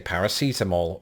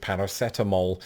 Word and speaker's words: paracetamol: this very one, because in Britain, we say paracetamol, or if you are of a particular regional persuasion, you might pronounce it paracetamol. Both pronunciations are accepted in scientific circles.